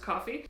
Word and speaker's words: Ko-fi: a little while ago it looks like Kofi but apparently it's pronounced coffee if you want to